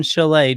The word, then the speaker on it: chalet: this again next year just remember to te is silent in Chalet just like pan pan